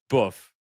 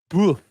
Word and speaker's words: Boof: It is pronounced boof. Emphasis on the uff. Boof.